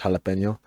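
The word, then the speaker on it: jalapeño: It's probably like a jalapeno jalapeno or jalapeno kind of deal. Like they all kind of work, but there's really only one right way to say it, and it's jalapeno.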